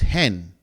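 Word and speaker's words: ἕν: for one is pronounced hen because you're adding what? You're adding the H.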